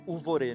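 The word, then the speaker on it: ובורא: Por outro lado, né, quando diz que cria as trevas, a palavra uvorê, né? A palavra não é uma palavra, é i, crio, né? V, pronuncia como u nesse caso, a letra vav, né?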